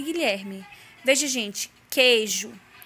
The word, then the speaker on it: Guilherme: no livro de vocês quando o que o e o g o são seguidos de é ou ir a letra u na maioria das vezes não representa nenhum som e portanto não é pronunciada veja alguns exemplos queijo